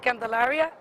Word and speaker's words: Candelaria: Now, and part of this, your name again, but spell your name, pronounce it and spell your name. Yeah, I mean, my name is Candelaria.